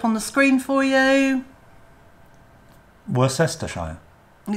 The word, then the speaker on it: Worcestershire: the word up on the screen for you were sester shy and it's not worse that's the Shire is